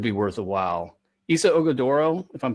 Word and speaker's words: Ighodaro: Issa Ogadoro, if I'm pronouncing the name right. Oso Ighodaro.